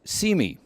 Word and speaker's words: CIME: yes I say mercifully the acronym for the center is cime and pronounced see me the aim of see